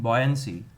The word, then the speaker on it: buoyancy: Boy, girl and boy, boy આખો તો તમારું pronunciation ખરાબ નહીં થાય. Buoyancy નહીં, buoyancy.